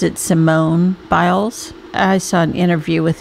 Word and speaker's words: Simone Biles: I think she pronounces it Simone Biles.